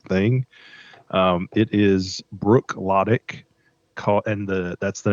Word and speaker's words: Bruichladdich: It is Bruichladdich, that's the name of the distiller, and it is called the Classic Laddie.